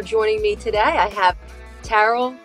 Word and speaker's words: Taral: me today I have tarl Thompson am I pronouncing your name correctly yes okay tarl Thompson marketing